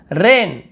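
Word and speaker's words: wren: रेन, व्रेन, यहाँ पर रैन पढ़ते हैं, ऐसे व्रेन नहीं पढ़ते, केवल से रैन पढ़ेंगे।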